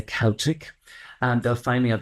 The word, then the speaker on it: Celtic: Celtic Tarot Therapy, and sometimes Americans say Celtic, but we Irish say Celtic.